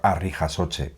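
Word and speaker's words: harri jasotze: En castellano se dice levantamiento de piedras, pero en euskera tiene un nombre que se llama arri jasoche, que viene de arri, que es piedra, y jasoche, levantar.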